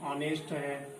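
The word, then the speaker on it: honest: तो ऑनेस्ट में क्या साइलेंट है, ऑनेस्ट मैन, तो क्या लिखेंगे यहाँ पे, एन ऑनेस्ट मैन, क्योंकि एच साइलेंट है ना।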